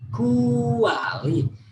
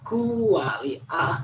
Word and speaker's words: kuali: Kuali, ya. Please remember there are 3 syllables here. Kuali, sound stands in a 1 syllable. Kuali, not kuali, but kuali.